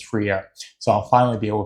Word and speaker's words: Freire: Glorious Death, and Andrew told me how to pronounce his name. It's Freire, so I'll finally be able to pronounce his name or his last name.